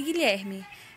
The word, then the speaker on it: Guilherme: no livro de vocês quando o que o e o g o são seguidos de é ou ir a letra u na maioria das vezes não representa nenhum som e portanto não é pronunciada veja alguns exemplos queijo